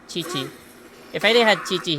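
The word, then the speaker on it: Qiqi: just because i have kiki here if if i didn't have or actually my friends say it's pronounced it's supposed to be pronounced chichi if i they had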